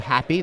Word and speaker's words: HAPI: So Laurent and Luis are with a company called Happy. That's spelled HAPI.